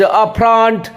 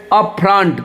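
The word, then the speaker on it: upfront: तो चलिए बिना next word of this show, that is अपफ्रंट। देखिए ई का उल्टा ये होता है अ, एफ के ऊपर लकीर है, इसका मतलब एफ पे जोर देना होगा, और पेट कटा हुआ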